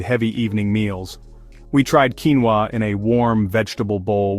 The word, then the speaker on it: quinoa: Quinoa, the compact grain with impressive muscle benefits.